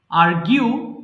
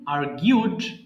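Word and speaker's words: argue: আর্গিউ তর্ক করা, আর্গিউ, আর্গিউড, আর্গিউড। কিন্তু এখানে আমরা ভুল করে অনেক সময় আর্গু বলি, কিন্তু এটা সঠিক উচ্চারণ আর্গিউ।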